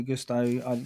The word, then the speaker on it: Gusto: like Chelsea i' got Gusto Gusto gasto Gusto Gusto like Gusto that's how you say it the old Fashions talking